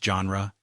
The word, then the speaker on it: genre: Quick pronunciation awareness genre can surprise ears. Try a gentle start, not a hard G.